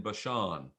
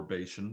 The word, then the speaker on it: Bashan: Now, to the one half of the tribe of Manasseh, Moses had given a possession in Bashan, or Bashan, depending on how you want to pronounce it.